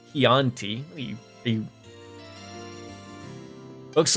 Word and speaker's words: Chianti: If you get wine, get Chianti Classico.